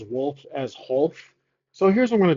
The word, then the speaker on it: Wholf: The W is silent. I'm going to call him, try to remember to call him Wholf. That is his new pronunciation of his name.